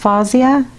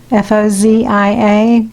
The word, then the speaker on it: Fozia: I'm going to do a pour today, surprise surprise, a recent one, and I was inspired by, I think it's pronounced Fozia, F-O-Z-I-A, Fozia Creations YouTube channel.